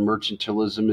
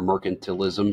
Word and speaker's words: mercantilism: be practiced in merchantalism remember the word merchantalism is merchant if you're a merchant um or mercantilism if you want to pronounce it that way also so a way to